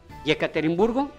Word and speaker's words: Yekaterinburg: en Yekaterinburgo, o Ekaterimburgo, lo he visto escrito con Y sí. y con E. Pero es porque ellos también la pronuncian Y. Yekaterinburgo, y es una casa grande,